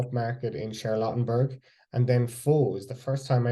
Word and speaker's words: pho: Oh, it's It's just pho. spelled Pho. You don't even say the pho. It's just like pho, All right, okay. like fu.